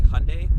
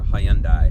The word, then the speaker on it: Hyundai: do have to say is I'm gonna say Hyundai because that's how US Americans tend to say it but it is technically pronounced how you and I or high-end I something along those lines but I'm not that